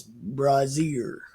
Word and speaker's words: brazier: is pronounced different it's brazier because I asked Austin and Brazier is a bra but it's a French word and we are pronouncing it wrong Americans are Americans are